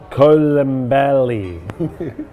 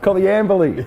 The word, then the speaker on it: Coleambally: Coleambally. Coleambally. Yes, you were foxing me, go on. Yeah, the Coleambally Footy Club, established in 1965, before the town of Coleambally itself was formed.